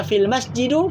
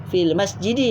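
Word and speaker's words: في المسجد: seterusnya almasjidu feel masjidi kalau baca film masjidu salah film masjidi yang betul hal maktabu halal maktabi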